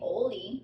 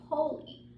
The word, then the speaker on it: holy: have holy holy again I don't say Oh Lee I say holy again holy is like